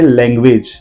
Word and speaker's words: language: पहले जी का जो साउंड है वो ग है, लैंग ग है, और दूसरे वाले जी का जो साउंड है वो ज है, लैंग्वेज।